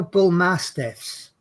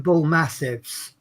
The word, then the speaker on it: bull mastiff: i was young you know bull mastiffs i used to call them bull massives yes yeah but they